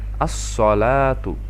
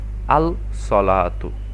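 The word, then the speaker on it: الصلاة: তাসদিদ গ্রহণ করল আর উচ্চারণের সময় দেখুন এখানে যেই আল থেকে লাম টাকে আমরা বাদ দিয়ে উচ্চারণ করছি আমরা এভাবে পড়ছি আসসালাতু নট আল সালাতু ঠিক একইভাবে পরেরটা আপনারা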